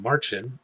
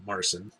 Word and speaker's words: Marcin: Well, it's just, the goal keeps floating around, and Marchin, and I apologize, I kept calling him Marcin. I guess his name is pronounced Marchin. He had to come to